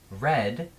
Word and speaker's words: read: tense of a verb the past tense of read is spelled the exact same but we pronounce it read so we're gonna use